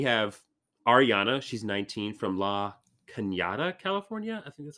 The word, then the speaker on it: La Cañada: She's 19 from La Cañada, California.